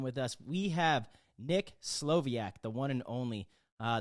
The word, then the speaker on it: Slowiak: I I think the w means that you're pronouncing two v's so that's right Slovak Slovak yes Slovak yes strong powerful and we're great